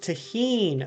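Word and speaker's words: tahini: to uh but I don't use them it's pronounced tahin okay tahin Doritos and sour cream that actually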